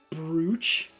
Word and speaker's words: brooch: Bean is it supposed to be brooch but it's spelled brooch that's how you spell brooch I thought bro